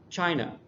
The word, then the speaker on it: China: The first one is China, Turkey. That's where the first syllable is emphasized more. It just sounds louder because we emphasize it more.